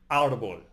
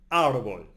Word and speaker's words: árbol: No matter where the accent mark is, that's where the stress is. Listen carefully. I give you 3 examples from my everyday life. Árbol, the tree.